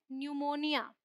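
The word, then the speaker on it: pneumonia: एन वालों को तो यह क्या है न्यूमोनिया पी साइलेंट यह है न्यूमेटिक ऑलराइट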